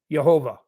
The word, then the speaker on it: Jehovah: It's spelled with a J. Sounds like a Y. Yhovah.